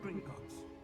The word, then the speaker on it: Gringotts: disapparating if things go poorly not out of Gringotts that's how it's pronounced I see something up ahead what is